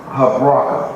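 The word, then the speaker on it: Habrachah: Habraka. Remember that C-H-A-H is pronounced like a K.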